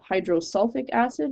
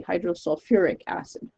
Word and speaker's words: hydrosulfuric acid: ide but it's sulfur we don't say hydrosulfic acid we say hydrosulfuric acid it keeps a few extra letters in there just for proper pronunciation so that one's one